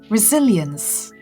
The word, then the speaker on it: resilience: The stress falls on the second syllable, resilience, and it's a noun, as we shall be seeing later on in the dictionary.